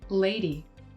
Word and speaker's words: lady: For the word lady, Bingbing slides from e to I, so a in both syllables. Lady. Most American English speakers use the slide from e to I, a, and only in the first syllable, lay, and then d.